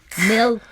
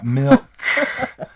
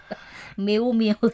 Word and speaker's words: milk: K ดังมากนะคะแต่ว่ามันจะต้องได้ยินอยู่บ้างนะคะ right อาจารย์เจ we wouldn't say milk but we say milk you heard it softly. When we teach, we often have to exaggerate the sound a little bit. Unfortunately, sometimes when I'm out, I'll hear someone pronounce something in an exaggerated way because their teacher has, tried to reinforce the sound. Yes. But the natural would be milk.